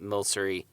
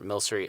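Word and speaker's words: Milcery: pokemon sword and shield there's a pokémon called mill sory and which i just mispronounced it the first time but whatever mill sorry and I'll creamy now creamiest thing it's this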